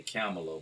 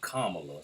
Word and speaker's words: Kamala: Now, I say Kamala, but when I hear them pronounce it, they say Kamala. So I say, okay, comma, like a comma.